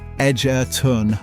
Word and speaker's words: Egerton: But when you visit Egerton, pronounced Edgerton locally, you learn that true community requires intense physical labour.